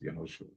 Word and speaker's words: Yehoshua: And when Yehoshua, I believe this is how you pronounce Yehoshua, yeah, Yehoshua.